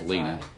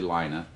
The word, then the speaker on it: Lina: for mispronouncing your name I thought it was Lena but it's actually Lina lots of other people